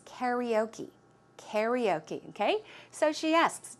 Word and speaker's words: karaoke: in Korean right but the English way of the American English way to pronounce it is karaoke karaoke okay so she